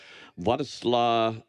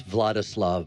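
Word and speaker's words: Władysław: is uh your Oscar winning performance as uh vadl spilman and we are going to see I can't pronounce anything um it's vladislav but they actually said V vadis vadis but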